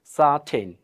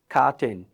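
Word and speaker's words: certain: আছে এই এর পরে এখানে আবার কি ই আছে তার মানে এই সি উচ্চারণ কি হবে এই দন্তস্য অথবা স এর মত হবে তাহলে কি হবে এটা সাটেন এটাকে কিন্তু কোন অবস্থায় আপনি খাটেইন এটা বলতে পারবেন না আপনাকে কি বলতে হবে সাটেন এটাই বলতে একটা মজার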